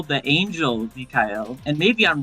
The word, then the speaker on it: Mikhail: Yeah, she wields a Um, Mikhail sword, or Michael sword. Dude, I can't. When the fucking Dizzy guide came out and they pronounced it Mikhail, I was like, well, shit, I've been doing it wrong.